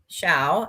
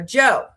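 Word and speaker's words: Zhou: For example, his name isn't Xiao, as the Latin alphabet speaker would say, but rather Joe.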